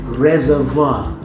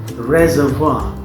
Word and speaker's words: reservoir: will be surprised to note that it is pronounced at reservoir it's not visible yet the way it's vendors but it is pronounced reservoir the reservoir I remember one thing as spelling